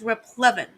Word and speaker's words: replevin: it's pronounced rep Levin replevin a procedure whereby